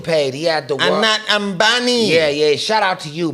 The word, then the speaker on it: Ambani: But yeah, how do you pronounce his name? Abani. Man, this guy is Ambani. super paid. He had the world. Ambani.